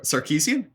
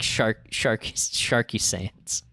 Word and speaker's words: Sarkeesian: Pronounce that last name again. Cheryl Sarkeesian. Yeah, that's it. Okay. I thought I said that. Yeah. Yeah. That sounds familiar to me. But no, you said like sharky sandans.